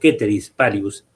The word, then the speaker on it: ceteris paribus: Acá estamos introduciendo una expresión latina, que es la condición ceteris o ceteris paribus, como realmente se pronuncia, que es una condición, es un artificio